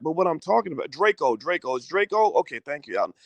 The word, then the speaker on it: Drakeo: checked it out and i pronounced it draco or drachio but it's draco draco the ruler my apologies